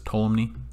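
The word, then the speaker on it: Ptolemy: scientist here is tolumny so you pronounce this tolumny okay very important roman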